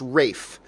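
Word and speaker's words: Ralph: it's spelt it's pronounced Rafe and it's spelt it's RAF II but it's pronounced Rafe it's really weird anyway you mentioned ray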